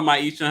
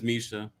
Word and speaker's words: Misha: I love that you call her Maisha. Her name is Misha. That's why she disliked the video, because I just don't know how to say her name properly.